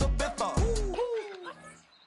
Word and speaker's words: Ibiza: I just went to Spain, that's Ibiza. Ibiza. Ibiza, yeah, it's pronounced Ibiza actually.